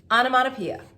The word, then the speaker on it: onomatopoeia: And let's count how many syllables. Onomatopoeia. I count 6. 6 syllables.